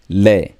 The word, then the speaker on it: les: Le. The S is silent.